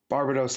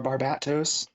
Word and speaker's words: Barbatos: i think i've seen barbados look so or barbatos trying to say it right uh after the last